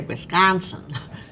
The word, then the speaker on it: Wisconsin: But the vowel that I've heard really frequently tonight is the ah sound in Wisconsin, which Wisconsinites say Wisconsin, is that wide open ah that I associate that so strongly with Wisconsin pronunciation.